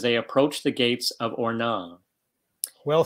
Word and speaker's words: Ornans: No S, Ornans. Ornans? Yeah, Ornans, right. You don't say the S. Okay, I'm not French. What scene greets Jan and Marcus as they approach the gates of Ornans?